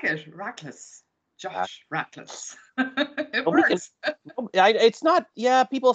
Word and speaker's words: Rachlis: Like it should probably be Rackless, but we say Rackless.